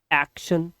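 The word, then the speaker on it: action: आवाज आएगी बट यहां तो ट नाम की कोई आवाज ही नहीं आ रही। क्यों नहीं आ रही? क्योंकि रूल कहता है कि जब टी आई ओ एन एक साथ आ जाए तो इसका उच्चारण आपको श न शन कर देना है इंग्लिश पढ़ते समय।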